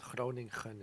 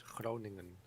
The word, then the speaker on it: Groningen: Yeah, It's not Groningen, it's Groningen. Yeah, they seem to make an effort to pronounce the second G with the hard Yeah. sound. NG is the same as your NG is King, Hang, That makes life a bit easier.